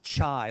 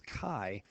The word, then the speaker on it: chi: it next now again it's chi squared even though it's spelled c-h-i it's not chai like chai t it is chi um like the beginning of the word kite let's talk about what